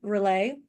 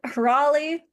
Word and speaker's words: Raleigh: how to pronounce uh re relay Raleigh darn it Raleigh rele is where cthulu is from I always get you too confused yeah that's all right